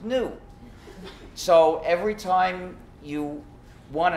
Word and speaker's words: GNU: countless word plays because according to the dictionary the g is silent and the word is pronounced new so every time you